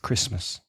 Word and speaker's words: Christmas: Christmas.